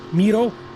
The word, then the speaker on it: Miro: So the M is actually from his first name, Miro, and his last name is Sipala.